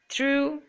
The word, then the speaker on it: through: champagne G is silent through G H is silent resign G is silent